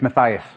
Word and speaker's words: Matthias: Firstly, have I pronounced your name correctly? It's Matthias.